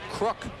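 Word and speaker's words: Kruk: Well, you know, I think I think they pronounce their family name crook. Like crook like a I'm a crook.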